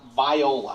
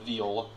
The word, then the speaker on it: Viola: where we're from and yes it is pronounced viola i have no idea why instead of instead of viola okay they're a city